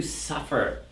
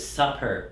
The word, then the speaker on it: suffer: guys we've got to suffer okay so when you pronounce this don't mistake suffer with supper right supper is delicious that's dinner suffer is terrible right so to suffer